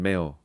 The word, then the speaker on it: Mayo: It's a quiet O at the end, Mayo.